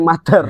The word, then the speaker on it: Mutter: Nanti Ada langsung aja cek di medsosnya Mater Coffee, itu double T ya, MUTTER Mater. Coffee. Muter. Ya Tapi muter. dibacanya Mater. Jangan katrol lah.